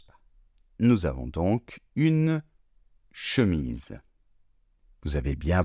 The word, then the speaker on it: chemise: Nous avons donc une chemise. Vous avez bien prononcé le S comme un S sonore puisqu'il est entre deux voyelles.